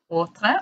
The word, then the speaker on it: Hautreux: Hautreux, all the way from Australia, Melbourne, Australia.